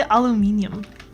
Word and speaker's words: aluminium: I know they sometimes wrap them in aluminium and then they steam it. That's like a thing they do, right? Aluminum? Why did I say aluminium? I feel like some people pronounce it aluminium, like a tomato kind of situation, maybe.